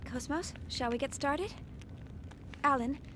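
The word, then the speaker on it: KOS-MOS: I know, that is how you're technically supposed to pronounce her name. It's Cosmos, not Cosmos. But if you want to say Cosmos, that's fine.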